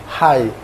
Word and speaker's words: high: High.